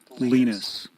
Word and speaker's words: Linus: So I jumped over to how to pronounce, and his first name is evidently pronounced Linus.